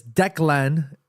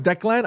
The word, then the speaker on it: Declan: Murf says it's Deckland. Uh, it's Irish so no extra syllable. No, I know it's Declan.